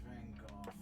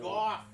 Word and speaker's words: Gogh: It's Van Gogh. It's Van Gogh. It's Van Gogh. It's Van Gogh. Goff.